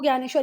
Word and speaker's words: ज्ञानेश्वर: इसको इस तरीके से भी लिखते हैं ना, नहीं तो ये भी ज्ञानेश्वर है और ये भी ज्ञानेश्वर ही है। आप गूगल पे प्रोनाउंसिएशन देख सकते हो, दोनों को ज्ञानेश्वर ही पढ़ना है।